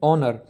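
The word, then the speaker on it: honour: है और तीसरा ओवर ओनर तो इन दोनों में भी एच साइलेंट है तो ये दोनों जो है ना ओ का जो है ना साउंड दे रहे हैं ओ क्या है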